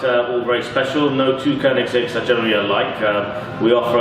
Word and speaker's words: Koenigsegg: Yeah, so it's actually pronounced Koenigsegg. Koenigsegg.